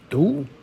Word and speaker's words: 读: Here's another character that can also be pronounced do, but primarily it is second tone du.